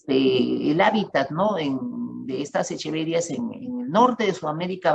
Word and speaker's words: Echeveria: Y bueno, yo lo pronuncio Echeveria, pero algunos quieren pronunciarlo en latín, pueden decir Echeveria, aunque lo correcto en latín sería decir Echeveria, pero suena tan raro que ya, no, yo prefiero decir Echeveria.